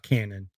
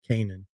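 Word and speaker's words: Canaan: for y'all Isaiah Kanan yes that's actually how you pronounce it too not canon Kanan the real ones remember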